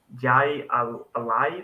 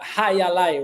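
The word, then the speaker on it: jai alai: some of the leagues you do it's a j Ali league did I say that right yeah yeah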